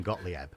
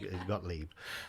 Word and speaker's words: Gottlieb: but carl gottlieb uh got leave i presume i think that's how he pronounced his name i was calling gottlieb because i was a kid seeing that name up on the screen but i think it's got leap um he put in